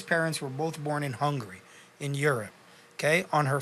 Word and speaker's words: Hungary: It's pronounced Hungary, but most people just say hungry.